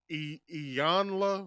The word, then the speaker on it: Iyanla: or how do you say her name uh iyanla Van Zandt that's how you say her name's